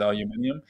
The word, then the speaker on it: aluminium: Aluminum is aluminium.